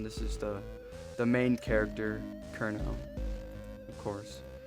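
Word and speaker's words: Cirno: This is the main character, Kurno, of course. Apparently pronounced Cherno. I'm gonna keep saying Kurno, because, you know, it makes sense to me.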